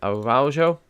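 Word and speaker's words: Araújo: So the next 3 centre-backs are going in team number 4, which is Araujo. That's how you pronounce that.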